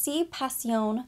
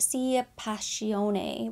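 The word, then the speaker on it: Sì Passione: indulge me this is Si Pasion they called it si pacione whenever I was in store I'm sure I'm mispronouncing it it's from Armani Beauty in my head I call it C pacion eau de parfum and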